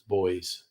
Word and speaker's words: buoys: in b-o-u-y-s nautical theme not buoys As Americans say what the hell is that about it's not buoys it's boys I did take a